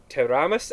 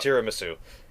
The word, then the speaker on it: tiramisu: That'd be like serving teramis at an old noodle shop. Tiramisu. Tiramisu? Tiramisu. It's not a Japanese dish, so it'd be pronounced tiramisu.